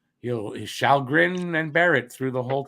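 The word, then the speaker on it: Källgren: calgarian i don't have the stats for calgary sheldgren it's pronounced shalgren you'll shall grin and barrett through the whole time montreal's beating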